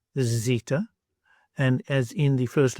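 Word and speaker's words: ζήτα: So it would be zeta, z, as in zoo, and zebra.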